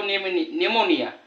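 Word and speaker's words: pneumonia: इथे बघा पी ने सुरुवात आहे पण याचा उच्चार होतो निमोनिया म्हणजे हे तीन महत्त्वाचे शब्द आहेत ते मी वर लिहिलेले आहेत.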